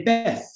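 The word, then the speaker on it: בית: They actually pronounce a taf as a tha. So for instance, you know how all these synagogues are Beth Tikva and so on? And in modern Hebrew, it's Bet Tikva and so on. She would actually say Beth, and she said Talith. And wherever you had a TH in these romanizations in English, she genuinely had a TH in her pronunciation.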